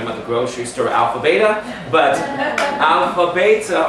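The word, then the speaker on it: βήτα: the grocery store alpha beta but I'm a beta or in Greek alpha vita because the way modern Greek pronounces it actually is the same as the olive eight so the being sound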